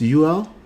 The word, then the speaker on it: Yul: UL, is that how you pronounce it? Oh, it's UL?